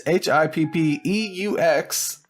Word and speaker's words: Hippeux: It's Hippeux. Might be French or something else.